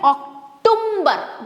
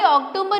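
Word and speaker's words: October: Next आता है महीने का यानी कि मंथ का वो पर्टिकुलर मंथ जहां पे हम इसको बोल देते हैं ऑक्टबर जो कि रॉन्ग है। भाई ऑक्टोबर यहां पे एम तो है ही नहीं।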